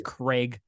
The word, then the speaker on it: Krage: Krage. Could be Krage. I doubt it's Krage. Incorrect. It's Krage. It's Craig.